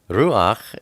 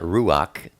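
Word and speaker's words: רוּחַ: And when you say ruach, it's not ruach, it's ruach.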